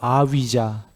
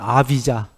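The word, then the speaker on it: अविद्या: 무명이란 단어 여기 보시면 스펠이 a가 붙은 위자에요 아비자 저 부위 발음이 그 위 발음이 나는 모양이에요 영어로 하면 아비자 아비자 a는 부정적도에요 위자가 아니다 그 소리거든요 그런데 명지는 뭐죠요 a자가 빠진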